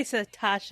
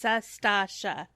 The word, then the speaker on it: Sastasha: You say Satasha, it's Sastasha.